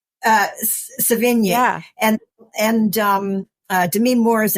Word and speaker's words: Savigny: Savini? Savigny.